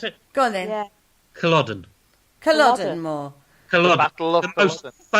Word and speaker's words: Culloden: Do you want me to pronounce it? Go on then. Yeah. Culloden.